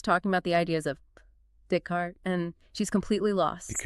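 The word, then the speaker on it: Descartes: learned Renee Deart pronouncing it in her head with an English accent like discart is probably sounding out that silent e and ez. She never connected the written form to the correct French sound dart.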